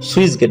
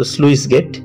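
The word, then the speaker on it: sluice gate: অনেকে আমরা উচ্চারণ সুইস গেট বলি। তো এটা মূলত স্লুইস গেট।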